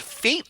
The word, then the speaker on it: F8: I'm enjoying F8, pronounced fate, obviously.